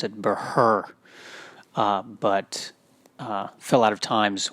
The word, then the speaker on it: Buhrr: H is silent, of course, as it was pronounced by the Spaniards back where the original Burrs were from. That's not true, actually. The Spaniards pronounced it Buhrr, but fell out of